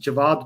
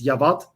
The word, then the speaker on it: Javad: own kind of name my name is pronounced javad but the way the norwegians pronounce this is yavat and sometimes when i want to be a bit more fancy they call me shavad so and sometimes i've